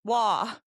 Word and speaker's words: Wei: Jason, wah, rhymes with saw.